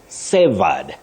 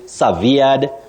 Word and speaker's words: severed: that is cutting links so you say Saed Saed but many people find themselves saying SED that is not the way to go you simply say sa